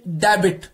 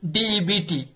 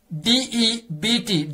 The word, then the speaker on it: debt: यहां पे मैं कहना चाहूंगा, हम सभी कहते हैं, कभी कुछ लोग कहते हैं कि डेबिट, DEBT, it's date, DEBT, debt here, B is silent, it's DEBT, debt.